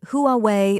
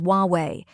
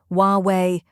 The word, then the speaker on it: Huawei: to pronounce it is huwei the H is silent so you start with W the second syllable is